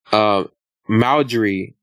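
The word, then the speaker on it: Marjorie: And a lot of people have a lot to say about Lori Harvey and even the mother, Lori Harvey's mother, Maldry, that's how you say her name.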